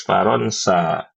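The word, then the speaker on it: فرنسا: Kalau Prancis Faronsa.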